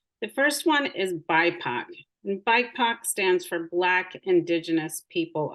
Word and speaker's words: BIPOC: first one is bipoc bike pox stands for black indigenous people of color and it is pronounced as a word not not said as um as the letters by Puck and it's